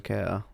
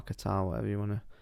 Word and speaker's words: Kattar: So maybe there's some money coming in for Calvin Kattar or Kattar, however you want to pronounce it.